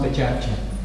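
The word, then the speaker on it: PechaKucha: In Japan, when you heard Pechakcha, Pechakcha, Pechakcha, so it's written Pechakusha and it's pronounced Pechakcha.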